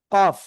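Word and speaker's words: كاف: এ অক্ষরের নাম কি কফ এই দুইটার ভিতরে পার্থক্য আছে কি পার্থক্য আমি একটু বলি খেয়াল করতে হবে এটা হলো জিহ্বার গোড়া থেকে একটু আগে বাড়িয়া উচ্চারণ করব কি চিকুন আওয়াজে কাফ ঠিক আছে চার আলিফ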